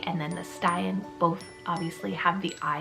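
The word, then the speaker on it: Stian: And those are the names Emin and Styan. So Emin is spelled E-M-I-N, and then Styan is spelled S-T-I-A-N.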